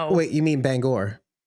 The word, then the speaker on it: Bangor: He's not everything's a banger. No, no, no. Wait, you mean Bangor? Yes. Shut up. I do actually. That's Sorry, I mispronounced it. Bangor.